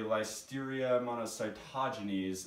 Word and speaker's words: Listeria monocytogenes: where it comes from so we have a life Styria amount of sigh taja knees is for the record that's the correct pronunciation I know some people have been saying